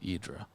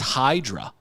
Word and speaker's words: Hydra: that was like so like Sandy calls it idra it's idra I mean who pronounces h y d a r idra it's Hydra yeah that's that's one of the most badass